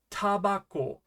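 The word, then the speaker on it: タバコ: How would you pronounce this? It's tabako, which of course means tobacco.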